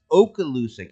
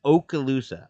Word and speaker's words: Okaloosa: today American Sportsman said Just for future reference it's pronounced Okaloosa oh really okay thank you